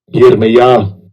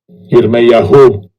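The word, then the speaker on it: ירמיה: It's pronounced Strong's H3414. Yirmiyah. Jeremiah. Yirmiyah. Whom Yahweh. Second entry. Yirmiyahu.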